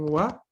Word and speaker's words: は: Si no se confunde luego cuando veamos la verdadera sílaba wa. ¿No? Recuerden, ustedes tienen que hacer el trabajo y recordar que aquí está en función partícula y la lectura será wa más no ha.